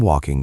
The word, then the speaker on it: walking: The L is silent. It is not walking, it is walking. Make the vowel long. Walking.